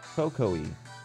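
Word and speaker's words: Kukui: Cocoa-y is how it's pronounced. Cocoa-y. Really? Cuckoo-y?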